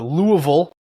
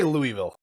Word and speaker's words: Louisville: The Louisville Regional Championships took place in. So how do you pronounce it? I say Louisville. Louisville. That's how I do it. I usually just say Louisville.